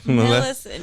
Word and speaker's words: Millicent: Millicent? It's like Maleficent. Millicent.